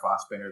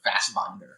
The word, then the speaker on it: Fassbinder: But I think Picard pronounces it Fassbinder, which is how a lot of people who are not German pronounce it.